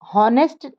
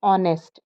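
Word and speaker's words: honest: इज एन ऑनेस्ट मैन नेस्ट नहीं पढ़ते हैं इसको इसमें एच साइलेंट होता है इसको हम पढ़ते हैं ऑनेस्ट और ओ का उच्चारण आ रहा है और व स्वर है इसीलिए एन लगेगा ही इज एन ऑनेस्ट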